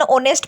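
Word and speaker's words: honest: वो है यहाँ पे ऐसे वर्ड्स जिसमें एच साइलेंट होता है, जैसे an hour, an ऑनेस्ट person, N honourable man.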